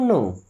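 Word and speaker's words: know: I don't नो। I means क्या होता है? मैं डोंट मी्स नहीं। नो मी्स जानता। इस नो वर्ड में दोस्तों के और डब्लू दोनों साइलेंट होते हैं।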